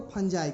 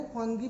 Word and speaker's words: fungi: चलिए, तो अब पढ़ना है कि हम लोग को फंजाई, क्या पढ़ना है, फंजाई को फंगी भी कहते हैं, कुछ लोग फंजाई भी कहते हैं, तो फंजाई कहिए फंगी कहिए कोई फर्क नहीं पड़ता, लेकिन स्पेलिंग वही होना चाहिए, FUNGI।